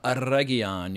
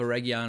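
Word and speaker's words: Eregion: namely the siege of Aron you got to roll your RS when you're talking about the show because all the actors certainly do but the Battle of Aron or the siege of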